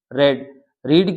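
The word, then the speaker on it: read: की third form आएगी रेड रीड की तीनों फॉर्म सेम होती है रेड रेड बोलते हैं उसको उच्चारण में फिर बाई लिखोगे आई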